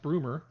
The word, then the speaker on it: Brummer: I'm sure it's pronounced Broomer. But I'm saying Brummer.